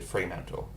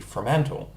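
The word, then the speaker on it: Fremantle: example I pronounced it freem manle and that is the dominant pronounciation for most people but that is also the American way of pronouncing it the British way would be frantal um a lot of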